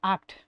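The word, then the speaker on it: acht: প্রনান্সিয়েশনে একটু সমস্যা হচ্ছে টা অক্ট হবে না ওটা হবে আট ঠিক আছে আট আচ্ছা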